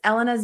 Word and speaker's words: Elena: Well, Elena, and I want to say to everyone that that yes, Elena's name is pronounced Elena, not Elena.